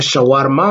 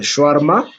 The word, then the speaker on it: shawarma: s'appelle comment c'est shawarma, que les Congolais malheureusement prononcent mal en disant shawarma, mais c'est le shawarma.